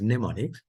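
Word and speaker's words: mnemonics: an operant so neonics the m is silent so you pronounce it as neonics that means short words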